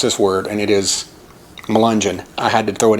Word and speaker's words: Melungeon: It wasn't a town name, but Ann Wagner asked to pronounce this word, and it is Melungeon.